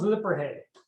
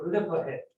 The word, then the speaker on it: Lippershey: Guy named Hans Lippershey. I used to pronounce it Lippershey, but then somebody told me that's wrong. The S actually goes away. It's the Lippershey.